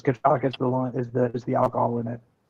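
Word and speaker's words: cachaça: Dewey, it's cachaca. I can't pronounce that right. And then lime, sugar, and ice. Yeah, so it's cachaca is the alcohol in it.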